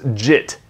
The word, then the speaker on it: JIT: So JIT, sometimes pronounced JIT, what is it?